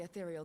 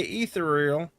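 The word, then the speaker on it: aetherial: See, she said athereal. Why do they say ethereal? She says athereal. I I I like moon brea. We on the same page. A is silent. No, she said athereal. Truly, how I hate these extra letters for no damn reason. This letter is silent.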